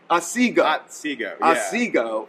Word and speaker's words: Otsego: I wanted to make sure I pronounced. Tell me about the Otsego. Otsego.